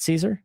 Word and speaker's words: Szczur: Oh, was it Max Caesar? Matt Caesar?